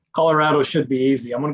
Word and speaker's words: Colorado: songs about Colorado that you pronounce it Colorado, because it doesn't sing well when you say Colorado.